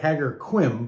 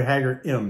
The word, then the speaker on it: Ħaġar Qim: really it looks like haggar quim but it's really haggar m they don't pronounce the q um it's a monolithic